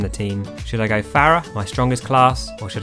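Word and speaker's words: Pharah: hurts me and by the way you do pronounce it Farah I'm going to trigger lots of people's faces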